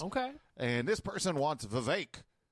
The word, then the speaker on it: Vivek: And this person wants Vivek. Rhymes with snake.